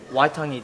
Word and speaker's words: Waitangi: Waitangi Day.